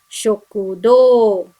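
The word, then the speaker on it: しょくどう: we have another example we have o after the o alphabet this also makes long o sound so it should be pronounced as shokudo which is canteen and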